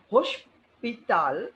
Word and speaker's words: hospital: Hospital will be called as hospital.